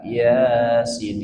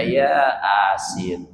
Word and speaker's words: Yasin: Kalau Yasin a-nya ada dua ya kan ya. Coba salah baca Yasin dibaca ya asin.